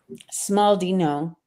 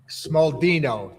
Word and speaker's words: Smaldino: to ask because that Italian accent can get butchered easy, right? Smallino. I was close, right? Was I in the ballpark? That was Yeah. Smaldino.